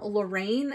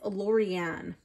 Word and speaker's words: Lorriane: by Lorraine Anderson and Juliet Diaz I always mispronounce her name and then I catch it after so it's not um Lorraine it's lauan illustrated by Gata Rose so this is a